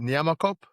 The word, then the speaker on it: Nyamakop: Am I saying it right? Is it Nyamakop? Is that the way you say it? Yeah.